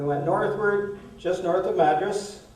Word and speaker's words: Madras: our reserved suv and drove down past mattress that's how they pronounce it and ended up just